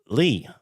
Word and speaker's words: Ley: we have the pronunciation wrong. Lee.